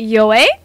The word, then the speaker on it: Yoe: e flash wolves or we call it yoi so that's how we're going to pronounce it yoi flash wolf um